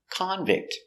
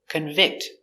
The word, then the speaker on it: convict: disease very good example convict is the person he is a convict a person in prison it's a noun so stress on the first syllable convict he's a convict the verb convict the judge convicts people